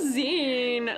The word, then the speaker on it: zine: We say Zen. Uh, some people say Z, but that's because they they only got it from the internet.